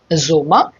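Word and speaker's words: Sommer: শিখব দেয়া ফুলিং দেয়া ফুলিং মানে হচ্ছে বসন্ত জোমা দেয়া জোমা মানে হচ্ছে গ্রীষ্ম দেয়া হেড দেয়া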